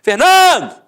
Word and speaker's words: Fernando: Por exemplo, Fernando, ficou onde a sílaba tônica? No Nã. Então você mata que a penúltima sílaba é a sílaba tônica, portanto é uma paroxítona terminada em o.